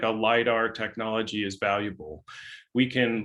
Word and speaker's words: lidar: to the earth sciences and uh the correct pronunciation and spelling is lidar all lower case i've uh i've learned this